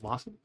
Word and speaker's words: wassail: Wassail is actually a drink, pronounced wassail.